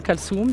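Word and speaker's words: Kalthoum: Il faut dire Kalsoum, il y a un musée à 2 pas d'ici Kalsoum, vous pouvez pas le dire. Oui, c'est vrai. Vous seriez la seule à le dire. D'abord, c'est Kalsoum, bien sûr, Kalsoum, mais même aussi Abdelhalim Hafez.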